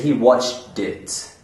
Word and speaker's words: watched it: washed or I watched, if those verbs are followed by another word that starts with a vowel, the T actually becomes a D sound. If I'm talking about a movie, I can say he watched it. He watched it would say he watched it. So this is very common in American English.